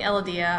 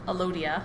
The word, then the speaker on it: Elodea: of a typical plant cell, which we're using Elodea. I've also heard it called Elodia. I say Elodea, but I pronounce words incorrectly anyway.